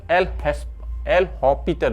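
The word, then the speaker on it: L'Hôpital: इसे एल हॉस्पिटल rule नहीं बोलते हैं क्योंकि एस ये फ्रेंच लैंग्वेज है, एस इसमें से साइलेंट रह जाता है, खा जाते हैं ये फ्रेंच लैंग्वेज वाले, पता ही नहीं चलता ये एस कहाँ चला जाता है इसका प्रोनाउंसिएशन।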